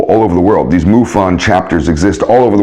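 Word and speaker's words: MUFON: one is muon you know about them muon mu U fo n you can look them up I forget exactly what the acronym stands for but you say it as muon you know you don't pronounce it as Mu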